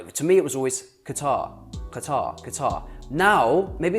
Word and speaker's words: Qatar: If you're going to call it Qatar or Qatar, call it Qatar. Qatar is the proper way with a qaf, ta, ra.